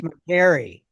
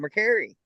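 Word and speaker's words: Mercari: if jiren has a link the heck is McCary that's where you sell it's like eBay but it's called McCary it's really big and popular it's really growing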